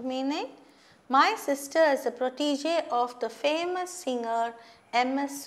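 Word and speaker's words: protégé: understand now the meaning my sister is a protege of the famous singer ms subba lakshmi i'm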